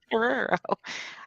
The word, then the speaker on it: Guerrero: Guerrero.